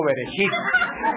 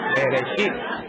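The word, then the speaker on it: בראשית: ¿Alguien se acuerda cómo se dice en hebreo? No, Shibirichibi, no, Bereshit. Bereshit.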